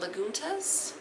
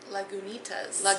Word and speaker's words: Lagunitas: We're also going to be drinking a little something from Lagunitas Brewing Company. Lagunitas. Oh, it even has the pronunciation right on the bottle.